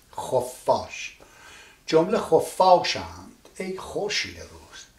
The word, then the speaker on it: خفاش: I've written khof and then I put a line in between and then I said F. So that means khof fash. Khof fash. F is pronounced twice. Khof fash.